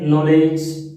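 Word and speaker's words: knowledge: पाला पड़ गया, जैसे नॉलेज, साइकोलॉजी। ये जो शब्द है नॉलेज की स्पेलिंग के से स्टार्ट हो रही है लेकिन के साइलेंट है।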